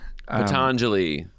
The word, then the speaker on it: Patanjali: And there is you do quote a yoga sutra of, and please correct my pronunciation if I do this wrong, Patanjali. Patanjali.